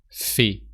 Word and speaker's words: fais: Tu fais. So there's always a silent ending, but I'm not going to cover that here because it's spoken French, so we don't say silent letters here.